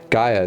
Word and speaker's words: Gaia: it before Gia oh that makes more sense Gaia taking control back after Hades has done its